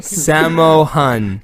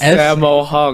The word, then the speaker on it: Sammo Hung: Samo Han. Shamu. Shamu Han. No, S- Sammo Hung. I'm gonna spell it out Sammo for him Hung.